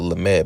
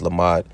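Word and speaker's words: למד: Oh, they call it Lamed, but it's Lamad.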